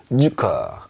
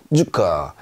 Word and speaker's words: Zucker: 자, 어떻게 발음하냐면 쌍지 발음이 납니다. 우리말로 약간 세게 쯔 소리가 난다. 그래서요. 소금이라는 뜻이죠. 잔츠. 잔츠. 이렇게 해 주시면 되겠어요. 얘는 설탕이라는 뜻이에요. 주커. 주커.